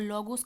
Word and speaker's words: logos: और एक शब्द है लोगोस, जिसे हिंदी में लोगस कहते हैं। लोगस, क्या? लोगस, मतलब इसकी स्पेलिंग होती है LOGOS, लोगोस।